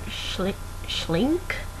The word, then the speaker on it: Schlink: novel called The Reader, which is by Bernhard Schlink, I believe is how you pronounce his last name.